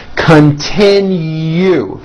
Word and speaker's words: continue: 3 syllables. Last syllable has a hidden Y. Continue.